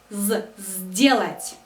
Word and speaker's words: сделать: глагол делать сделать сделать у нас здесь префикс с но мы произносим его сделать есть съесть здесь тоже